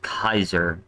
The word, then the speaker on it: Caesar: Like Caesar is actually pronounced Kaiser in Latin.